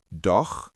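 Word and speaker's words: doch: So it's like do with that kh sound and no meaning still also has ch after o. So it's no. Try it. Do no.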